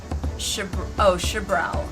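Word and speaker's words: Xbr'aal: Note ahead of the curve, when saying Turali names, X is usually pronounced as she, or sh, okay. So in this case, Shabral.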